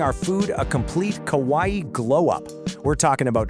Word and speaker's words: kawaii: So kawaii, you say it like kawaii is this huge part